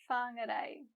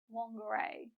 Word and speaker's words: Whāngarei: Now, you might notice that the letters WH sound like Whāngarei, and this is another useful Māori consonant to learn. Anytime you see WH, remember that the sound is Notice too that we have another example of two vowels next to each other, e and e. When we put them together, we get a, Whāngarei.